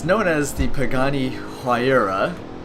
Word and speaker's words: Huayra: change pagani um it's known as the pagani huayra it's the correct way to pronounce it it's p um h-a-u-y-r-a if i'm